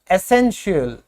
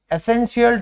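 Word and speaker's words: essential: तो जब भी आपको TIAL मिल जाए, आप देख लीजिएगा इसको क्या कहोगे? इसको आप कहोगे शियल। क्या बोला जाएगा? शियल बोला जाएगा।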